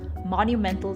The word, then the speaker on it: monumental: that word out so what the americans do is they have a different type of t sound which is a monumental challenge it's almost like a d but it's a cl sound so when you have that t sound monumental challenge the word rolls out of your mouth more smoothly so if you want